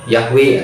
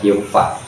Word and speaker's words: Yahweh: Nah, dibaca Yahweh, ada juga yang membacanya Yehova. Nah, jadi tidak dipakai lagi